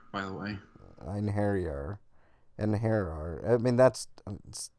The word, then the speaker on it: Einherjar: Einherjar, by the way. Einherjar. I mean, that's spelled really weird.